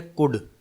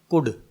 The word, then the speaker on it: could: ये है कुड, COULD। इसमें L साइलेंट है, इसे क्या पढ़ना है, कुड।